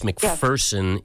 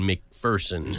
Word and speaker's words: McPherson: was so polite that when I mispronounced his name for years, he never told me. And somebody else had to say, there's no fear in McPherson.